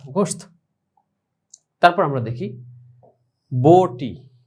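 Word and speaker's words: گوشت: তো সেটার উচ্চারণটা কিরকম হবে, গাফ ওয়াও পেশ গো শিন তা গোশত।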